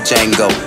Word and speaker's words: Django: Chain on my neck, why your boy so Django? The D is silent, my D is violent.